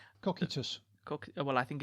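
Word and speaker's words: Cocytus: Into the ninth circle circle known as depending on how you pronounce it either cockitus or casitis cockitus.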